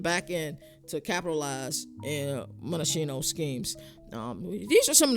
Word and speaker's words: Monachino: Defensive coordinator Ted Monachino, or Monacchio, I'm not sure how you say it, but I think it's Monachino. He's unconventional.